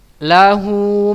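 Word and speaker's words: لَهُۥ: Cara membacanya dipanjangkan dua harokat ya, gampang sekali ya anak-anak Ustaz yang dirahmati Allah. Contohnya ya. Lahu ma fis samawati wa ma fil ard. Ya, paham ya anak-anak Ustaz? Lahunya panjang.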